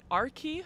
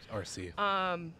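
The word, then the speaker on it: Arcee: It's Arkie, who is a Transformer. RC. RC. I'm sorry. It's fine. I can't pronounce things.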